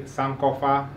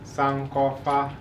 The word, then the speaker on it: Sankofa: really a good brother now when I say Sankofa the state Rada Sankofa oh now you may have heard that word before another pronunciation of some call foul called sound very good so when I say